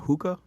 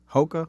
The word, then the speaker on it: Hoka: How do you say that? Hookah? Hoka? I think it's Hoka. I think it's Hoka.